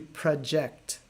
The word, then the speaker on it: project: go to the verb the verb is actually pronounced to project project so now project